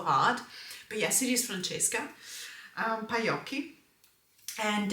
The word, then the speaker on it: Francesca: the times in which her name has been mispronounced, it always makes me laugh so hard. But yes, it is Franchesca um Payi and it's the same illustrator as as the uh Unicos Journey Tarot.